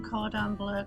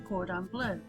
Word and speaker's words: cordon bleu: Today we're going to make a chicken Cordon Bleu casserole. Now that's how you say it in England. Apparently over here in the US you say chicken Cordon Bleu. So either way you pronounce it, I'm going to start with the vegetables.